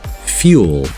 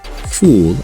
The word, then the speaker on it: fuel: So Americans say fuel and cute, similar to the British accent, not fool and coot.